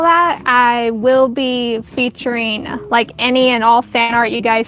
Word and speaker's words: Anya: spelling it wrong because, I've heard the name Anya, like Anna kind of Anya, like how it's spelled like Anna instead of with a Y.